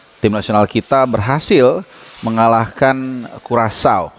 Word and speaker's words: Curaçao: nasional kita berhasil mengalahkan Curaçao. Ini jadi cara bacanya ini Curaçao, negara di Kepulauan Karibia dengan berpenduduk 150.000 jiwa.